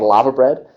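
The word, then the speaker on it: laverbread: never tried it uh it's called lava bread uh it's spelled l-a-v-e-r bread and this is the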